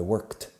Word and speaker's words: worked: I worked. Una sola sílaba, difícil de pronunciar para vosotros, lo sé. Sonido de K, worked, y luego sonido de T juntos. I worked all 5 days, so I drove, pasado de drive.